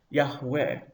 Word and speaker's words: Yahweh: We start with the divine name, which might have been pronounced Yahweh. But in the Bible, in the Hebrew Bible, the Masoretic text, it is usually written with the vowels of Adonai, or occasionally with Elohim, to remind the reader not to pronounce the sacred divine name, but instead to substitute either Adonai or Elohim.